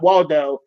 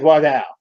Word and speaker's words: Waldau: doubt and yes people I did listen to him pronounce it so that is how you pronounce it is not Waldo he says walked out so haha why God